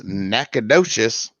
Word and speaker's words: Nacogdoches: more time no okay it's nakedish that is in louisiana it's nakadocious that's in texas hmm i thought you pronounced it natagocious now i'm gonna look